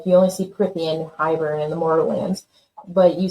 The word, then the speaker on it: Hybern: And then this Hybern, or is that how you say it? Hybern, yeah.